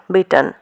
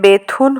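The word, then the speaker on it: Bethune: ইহার নামের প্রকৃত উচ্চারণ বিটন, কিন্তু এদেশে বেথুন হইয়া পড়িয়াছে, সেই নামে সকলে ইহাকে জানে।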